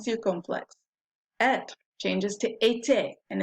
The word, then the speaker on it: était: Être changes to était, and if they both have an accent aigu, so you pronounce both E's, right? Était.